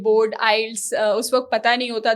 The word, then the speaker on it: IELTS: है बचपन में बोर्ड आइल्स उस वक्त पता नहीं होता था तो लोग प्रोनाउंस करते थे आईलेट्स आईलेट्स आईलेट्स प्रोनाउंस कर रहे होते थे तो लोग काफी अरसे